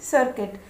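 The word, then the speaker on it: circuit: Civil, C आई आर सी यू आई टी सर्किट. तो यहाँ पर देखिए सी के बाद आई आया है तो इसका उच्चारण हम करेंगे स के जैसा.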